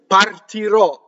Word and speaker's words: partirò: Partirò. Now, anything that ends in a final syllable, usually the future tense, or something that's a word that's been truncated in Italian, you're going to have an open O.